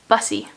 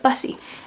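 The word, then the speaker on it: Busse: from the author herself how to actually pronounce this name because i think we've been like pronouncing it like a french way uh but bussy um so this is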